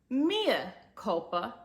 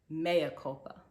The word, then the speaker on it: Mea Culpa: Maya Cula but yet decided to name and pronounce the title Mia Copa and have the leading character's name be reflected